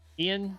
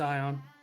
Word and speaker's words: Ion: I'm gonna call him Ian. I feel this is just a weird spelling of Ian. I hope it is. It's Ion. Ion. Swear to God. I mean, it's spelled like it.